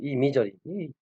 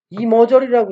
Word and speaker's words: imagery: 이 머저리만, 이미저리. 아니, 세상에 옛날에 이거를 읽는데, 이미저리를 읽어야 되는데, 이머저리라고 읽어요, 이머저리. 이걸 어떻게 이머저리라고 읽어요?